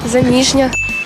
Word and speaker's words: заміжня: думаю теж заміжня заміжня заміжня Саме так заміжня наголос на звук І а от у слові